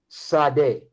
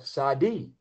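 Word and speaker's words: שָׂדֶה: And it's pronounced Sade or Sadi, which the Lord, you, and I'm saying the Lord, you is the Lord, must bless.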